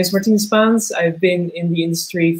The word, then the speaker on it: Martine Spaans: We are back and this is we're with Martine Spaans.